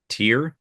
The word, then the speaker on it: Tierra: Tierra Whack, How do you yeah, spell that? she's Tier? Tierra.